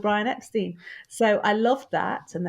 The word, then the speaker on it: Epstein: the way it's spelt there was a presumption that it was stein as in steinway piano and so i've actually always had to say whenever i've done television debates it's epstein and actually one television